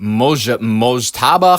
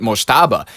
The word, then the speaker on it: Mojtaba: Mojtaba Khamenei. Yes, that's a good way to pronounce it. Mojtaba.